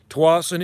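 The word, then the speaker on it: Tsawwassen: the tawasan yeah bigfoot is look it up it's spelled t-s-w-w-a-s-s-e-n tawassen is south of vancouver and it's a super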